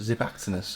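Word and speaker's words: Xiphactinus: zip act in US zip actiness or what it's called the next fish um it's with an X but it's pronounced with like a zed these fish basically eat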